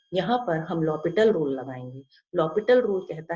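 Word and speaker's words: L'Hôpital: तो इस तरीके से हम लॉपिटल रूल लगा के, यहाँ पर h साइलेंट है, हम इसे एल हॉस्पिटल रूल नहीं बोलते, इसको लॉपिटल रूल बोलते हैं।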